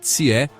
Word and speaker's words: Jie: Dier, pronuncia-se Tier, foi o 17º e último governante da dinastia Chia, reinando por volta de 1600 antes de Cristo.